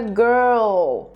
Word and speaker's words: girl: Então esse enrolar da língua fica muito mais forte quando tem um L depois. Girl, world.